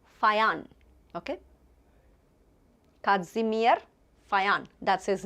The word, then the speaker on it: Fajans: J is not pronounced as J, it's ya, ya, Fayan, okay.